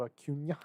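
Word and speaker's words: Acuña: By the way, Aaron Ladd just tweeted Ronald Acuna Jr.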